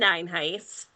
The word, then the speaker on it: Nyenhuis: It is Ninheis.